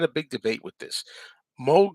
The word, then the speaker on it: Moog: Moog synthesizer is spelled with two O's. I want to say Moog. I think even the Beatles called it Moog synthesizer. But what I've heard is that's not the correct uh, way to pronounce it. It's Moog.